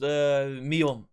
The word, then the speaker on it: Mium: I was like, I don't know how to pronounce your name, so I'm going to call you Mai. And it was like, my name is, it's pronounced, Mium.